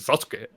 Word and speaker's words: Sasuke: I know it's on purpose, but I'm just properly pronouncing Sasuke.